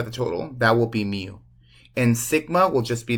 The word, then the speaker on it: mu: is the Greek letter it's called mu and you kind of like the pokémon Mew but not really that's how you spell